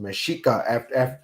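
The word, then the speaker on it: Mexica: get meico from but it's actually it's actually pronounced mesika after the people it's not it's not the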